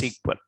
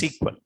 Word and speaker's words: SQL: but still you pronounce SQL so pronouncing SQL is wrong if you pronounce SQL that is wrong you have to pronounce what SQL you call it as sequel don't call SQL okay and it is